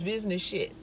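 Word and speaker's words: Business SHET: I think her podcast, it's called Business Shit, and it's spelled S-H-E-T. And to be quite candid, I'm not sure what that abbreviation stands for, S-H-E-T, but it's Business Shit is how it's pronounced.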